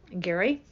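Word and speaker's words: Gerry: by the same name Gary g e r r y but pronounced Gary writes for several magazines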